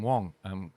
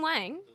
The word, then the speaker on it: Wang: yeah, Or well, is- William Wang, they pronounce it Wong in China, but oh, really? you know, Oh, potato. I'm gonna go apologize to William. No, because he's okay with it being pronounced like that because he knows Aussies pronounce A's like that. Oh, okay, all right. But I just got used, a Chinese person taught me it's actually pronounced Wong, so yeah.